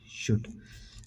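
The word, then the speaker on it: should: SHULD, शुड। L silent होता है इसमें।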